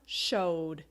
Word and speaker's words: showed: play is played played another example show right show show I can feel the vibration here show so it becomes showed in the past tense another example is